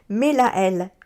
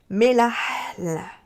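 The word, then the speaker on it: Mélahel: Quand il y a des H, il faut inspirer. Par exemple, Mélaël, M-E-L-A-H-E-L, Mélaël. Voilà comment ça se prononce.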